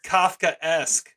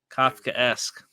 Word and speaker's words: Kafkaesque: capes how do you say this word it's Kafkaesque they said it enough times in the episode I'm an idiot I didn't realize put two and two together Kafkaesque I'm okay anyway Kafkaesque first time trying saying that first try this